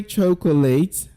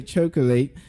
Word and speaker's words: chocolate: Would you say chocolate? No, you don't want to say chocolate.